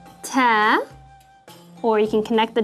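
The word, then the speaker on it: تاء: the english b sound ta or you can connect the dots remember and that's like the frontal t sound as in the word teeth and tha which is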